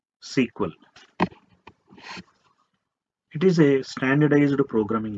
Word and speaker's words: SQL: is a or DBMS it is pronounced as sequel it is a standardized